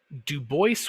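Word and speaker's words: Du Bois: of you who study French who go it's Dubois no he pronounced it dubo so we're going with that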